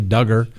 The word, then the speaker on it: Duggar: the max duggar trial duggar sorry duggar duggar rhymes with hugger um uh we also